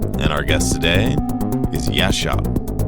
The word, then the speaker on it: gesceap: I'm your host, and our guest today is Yashop. All right, welcome to Yes Shop, which is an interesting way to pronounce this collection of letters.